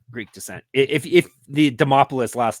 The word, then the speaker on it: Demopoulos: jump into it another favorite of ours Vanessa demopoulos is in the opener I say her name